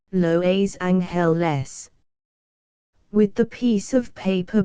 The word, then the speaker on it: Los Angeles: beautiful says Los Angeles whatever you do don't call me Angeles laboriously em wrote her name as she herself pronounced it loa's hell less with the piece of